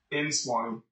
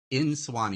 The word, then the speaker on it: Nsuani: have a guest today, Swani. Is that how you say it, Swani? Nsuani. Nsuani. You do say the in. Okay. My wife was like, it's Swani. And I'm like, I think it's Nsuani.